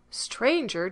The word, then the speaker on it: stranger: in sum and home stranger does not rhyme with anger neither does devour with